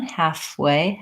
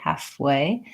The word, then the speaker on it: halfway: halfway Jimmy is saying it's not easy to move directly from the F sound to the W sound half day way yeah it may be that trying to just practice that transition halfway halfway might be good what